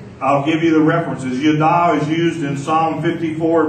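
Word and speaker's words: yadah: Number one is the Hebrew word yada. Say yada. It's spelled Y-A-D-A-H.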